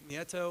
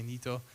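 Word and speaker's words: Nieto: of these guys Enrique NATO will come in power I think it's pronounced Enrique Neo he does not like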